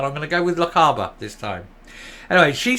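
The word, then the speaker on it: Lochaber: and badanok MSP and I hope I pronounce La Caba correctly this time I pronounced it Lockheed before and I was called off in the comments so leave it alone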